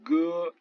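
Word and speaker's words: 哥: Le G qui se prononce toujours dur comme dans grand ou dans gomme et jamais comme un J français. Par exemple ici le mot grand frère, que, ge.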